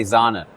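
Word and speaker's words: Sahne: very uh often used word we we say Zana Zana okay said so that's finding finding the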